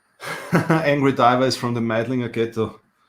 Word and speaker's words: Meidling: Angry Diver is from the Meidlinger ghetto. Meidling with L. They have a funny accent. They pronounce the L.